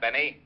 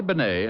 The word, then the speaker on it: Bennet: It's pronounced Bennet, not Benny.